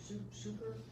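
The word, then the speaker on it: succor: But sucker, sucker is an old, and it's spelled different. And it's like S-U-C-C-O-R, sucker.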